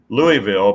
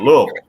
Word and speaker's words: Louisville: Well, we pronounce when we talk about the farm machinery show here, we say Louisville, but back there in Kentucky, and you were from close to there. There they call it Louisville.